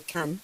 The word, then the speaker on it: Cannes: Doctor Fernando, pues hoy seguimos hablando del Festival de Cannes, el Festival de Cine o de Cannes, como se debería pronunciar.